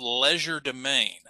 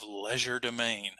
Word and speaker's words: legerdemain: But the French term for it, and again, I'm pronouncing it as an English speaker here, but the French term is called legerdemain.